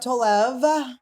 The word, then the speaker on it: Tolev: Steph Tolev. Thank you. Am I saying it correctly? You are. I was saying it wrong for a long time. Everyone still says it wrong, and now I don't even... Tolev, or so I'm saying